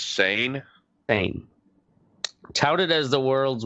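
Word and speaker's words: Seine: long ago in uh cine france s-e-i-n-e um this was in the 16th of may 1770. the same how was it pronounced i do believe it's sane fame touted as the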